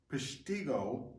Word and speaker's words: Peshtigo: The other one, the Great Peshtigo, I think is how you pronounce it, fire of the forests of the